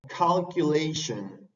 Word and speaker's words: calculation: Por ejemplo, si las palabras terminan en sion o tion, se pronuncian shun, shun, shun, como calculation, calculation, que es cálculo, cálculo, calculation.